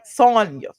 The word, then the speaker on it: Sanya: I always get her name wrong because I think about Tanya, but I know it's Sonya.